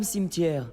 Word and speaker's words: Cimetière: Madame Cimetière. Ça se prononce cimetière. Tu as des livres en retard, Monsieur Broadstreet. Je suis hyper en retard. Salut. Ouah, j'aime beaucoup votre costume, Madame Simter.